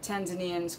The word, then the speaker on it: Tanzania: and he had gone to Tanzania as the Tanzanians call it Tanzania to learn Swahili so in